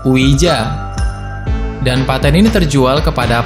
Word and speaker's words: Ouija: Cara baca yang benar adalah Ouija.